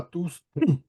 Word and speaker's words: tous: parce que ça me plaît parce que tous est à la fin de la phrase, donc on prononce le S de tous.